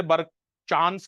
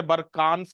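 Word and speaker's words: barkhan: दोनों सही okay okay तो कुछ लोग इसे बर चांस कहते हैं कुछ लोग इसे बर कांस कहते हैं और कुछ लोग इसे बर खांस कहते जहां पर आपको अब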